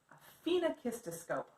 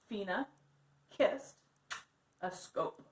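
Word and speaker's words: phenakistiscope: moving so we are going to be creating FINA Kista scope FINA kissed a scope it's how you say it now these animation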